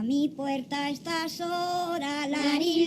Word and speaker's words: Larín: So the first time it's Larín, Larero. If you can roll the R's, that's great. And if you can't roll the R's, that's fine too.